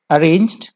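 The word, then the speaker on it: arraigned: homicide next word है अरेंज्ड अरेंज्ड अरेंज यहां पे वर्ब की तरह यूज हुआ है अरेंज जी यहां पे साइलेंट है अरेंज A double R ए आई जी एन ई डी अरेंज अरेंज यहां पे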